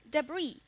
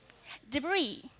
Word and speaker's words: debris: and next one is debris here turns into the silent s in the end that means peace is